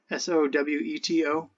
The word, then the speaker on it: Soweto: I'm not I'm probably pronouncing it wrong. S O W E T O.